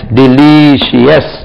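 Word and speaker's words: delicious: உள்ள டி எல் ஐ சிஐ ஓ யூ எஸ் டெலிசியஸ் ரொம்ப ருசி fish is டெலிசியஸ் in this restaurant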